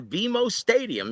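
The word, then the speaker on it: BMO Stadium: in LA on Saturday August 3 at the bimo stadium yes it's pronounced bimo Stadium right not guys I was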